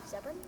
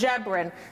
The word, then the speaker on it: Ziobron: Ziobron? Oh, so close. It's pronounced Ziobron.